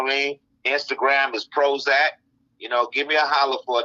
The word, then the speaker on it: PROHOEZAK: It's spelled PROHOEZAK, but it's pronounced Prozac because the hoe is silent because the power's in the pimping.